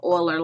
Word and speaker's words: Euler: it was euler who you pronounce his name euler like a o-i-l-e-r even though it's spelled with the e he's the one that